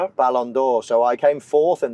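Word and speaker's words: Ballon d'Or: And then how do I how do I pronounce it? Balandor. Balandor.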